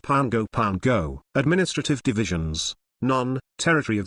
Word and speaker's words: Pago Pago: DC during standard time note pronounced Pango Pango administrative divisions non territory